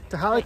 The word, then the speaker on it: Tehaleh: Nobody knew how to say it. Tehaleh. Tehaleh tamale.